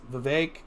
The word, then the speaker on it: Vivek: It's not Vivek. It's Vivek. Yeah, Ramaswamy.